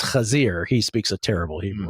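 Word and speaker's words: חזיר: Yes, except correctly pronounced. It's Kazir.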